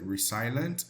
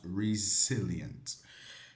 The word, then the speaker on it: resilient: I know when you see it, it's like resilient, but this word is pronounced resilient. Yes, resilient, but resilient. The pronunciation is resilient.